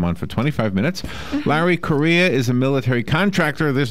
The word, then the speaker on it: Correia: author good morning larry korea am i saying your last name right first of all good morning larry good morning yeah it's uh it's korea just pronounced like the country i know i'm saying